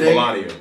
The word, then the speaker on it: Melania: But to be honest with you, and it's pronounced Melania.